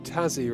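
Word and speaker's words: Tassie: Ian, is it pronounced Tazzy rather than an S sound?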